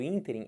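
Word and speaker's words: ínterim: sílaba forte do ínter ruim aqui é a sílaba tônica o que que seria isso interim é um espaço de tempo é um intervalo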